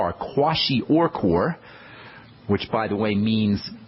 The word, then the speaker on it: kwashiorkor: a whole nother story kwashiorkor and that's spelled k-w-a-s-h-i-o-r-k-o-r kwashi or core which by the way